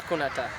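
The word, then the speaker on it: දකුණට: left please would be like vomiter and the cuneta the yeah you're right you're right yeah vomiter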